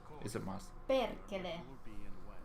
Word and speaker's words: perkele: Discord DM coming and rolling the R is the pronunciation is pretty close, but the emphasis must be on the first syllable. And rolling the R is a must. Perkele.